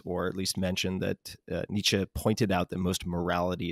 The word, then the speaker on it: Nietzsche: wondered i never know i pronounce it like northern albertan nietzsche i know that's wrong it's nietzsche i believe but i never get it